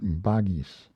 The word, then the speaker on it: Vagisa: One of the names or characters of Siva is Vagiswara or Vagisa, commonly pronounced Bagis, the Lord of Speech.